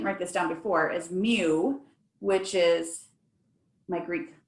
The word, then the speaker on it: mu: in front of it that's m u you pronounce it mu then that way when